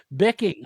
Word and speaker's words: Bicking: Say bicking like pen. Bicking.